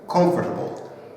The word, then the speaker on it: comfortable: And we say comfortable. Okay. Comfortable. How about if I say comfortable? Comfortable. Okay. There's another A there. Okay. Comfortable. All right. But sometimes they say comfortable. Okay. And it kind of eliminates that A. Or they say it faster.